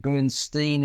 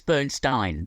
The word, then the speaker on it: Bernstein: approach to Bernstein's life Burstein again did they say I thought they said benstein in maybe I'm Mist no I was listening very carefully it was always Burnstein Burnstein oh good okay I mean when you think of a a Stein of beer s t i n you don't say Steen no um but yeah but